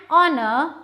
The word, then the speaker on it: honor: It is an honor because H is silent in these words.